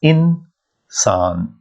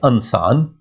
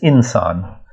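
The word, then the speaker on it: انسان: sound, So it says insan. Now, it doesn't say ansan, it says insan. So alif is not giving you a sound here. This zer is giving you I sound here. Alif is totally silent.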